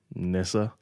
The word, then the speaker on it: Nyssa: All right, so his 2 German Shepherds, the oldest one is Archer, and the younger one is spelt Nyssa, so I'm just going to call Nissa.